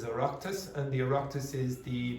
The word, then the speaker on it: Oireachtas: Now you won't know this, but the pronunciation of this is Oireachtas, and the Oireachtas is the Parliament buildings, okay, in Ireland, okay?